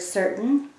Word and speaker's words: certain: certain great now i'm going to clap the word to hear the syllables this tricky word has more than one syllable watch me certain now you try it with me certain how many syllables did you hear great there are two syllables in this word so i'm going to